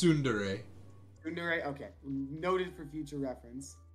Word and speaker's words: tsundere: definition of sunday exhibit a sun dare it's soon today was that not how you i did not know that's how you pronounce it yeah it's tsundere okay noted for future